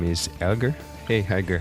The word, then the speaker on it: Helge: and he's from Germany, and his name is Helge. Hey Helge, how are you? Hi, my name is Helge.